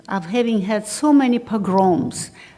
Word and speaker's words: pogrom: having had so many pogroms you might say pogroms because english language to me always starts with accents in the first syllable of course it's syllable in my language and so uh he